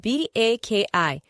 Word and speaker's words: baki: Our next one is spelled B-A-K-I, which means Baki.